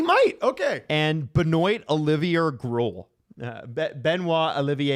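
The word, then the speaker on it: Groulx: And Benoy Olivia Grl. Benois Olivier. Oh, is is it spelled with an X? Yeah, Grul.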